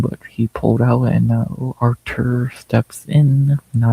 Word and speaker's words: Artur: he pulled out and Artur steps in. Now, I want to say Arthur really bad, but I got to say how it's spelled.